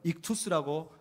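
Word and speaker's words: ΙΧΘΥΣ: 아마 한 번쯤은 몇 번쯤 다 들어보셨을 저 익투스라고 발음하는 헬라어의 모임이고, 저 익투스라고 발음하면 다른 말로 물고기란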